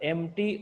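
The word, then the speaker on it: empty: और level the cylinder एमटी और एमटी ठीक है ये देखिए ये जो वर्ड है ना ईम पटी वाई यहां पे ई जो है साइलेंट होता है हम लोग क्या पढ़ेंगे उसको एमटी पढ़ते हैं क्लियर क्या पढ़ते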